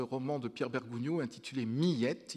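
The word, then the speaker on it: Miette: de pierre bergounioux intitulé millette il faut prononcer en deux syllabes qui est me semble-t-il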